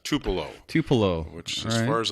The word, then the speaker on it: Tupelo: Finally, we have Rashid from, I'm not sure how to pronounce this, Tupolo? Jim, you got to get out of the house more often. I believe that's Tupelo.